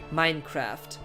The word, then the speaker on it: Minecraft: pronounced like in england we still pronounce it like in english minecraft i have never heard